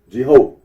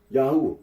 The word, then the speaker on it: Yahweh: can be little doubt that it is not Jehovah marp aror remarks that certain conclusion drawn from the pronunciation of as yahwe would be valid even